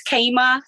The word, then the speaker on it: Chama: Personally, my name is Kama. You will never be able to find it because it's spelled not even the way it sounds.